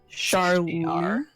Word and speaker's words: Charlee: One thing, how did you spell that Citadel lieutenant's name? Charlie.